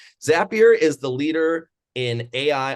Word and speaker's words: Zapier: And then we also have Tracy from Zapier, rhymes with happier today.